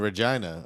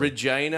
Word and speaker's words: Regina: from like Winnipeg, and Regina, apparently. Regina, Yeah. which I think is in Manitoba or Alberta? Because I don't know. I think we're It buying ri- all. I know what it rhymes with, though.